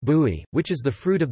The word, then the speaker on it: buy: Popular fresh juices are made from bisap, ginger, bai pronounced bui, which is the fruit of the baobab tree,